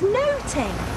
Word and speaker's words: nothing: So you see, in Shakespeare's day, they would have pronounced nothing as noting.